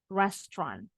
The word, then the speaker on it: restaurant: kata it has only two so you should pronounce it as restant restant rest Kalau lebih dari satu Good job